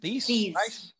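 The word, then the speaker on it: Theiss: How do you pronounce her last name there? Thies.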